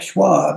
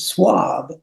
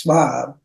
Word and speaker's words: Shwab: our name is not Schwab it's swab okay and and and you know so it may be because in French H is silent but I have a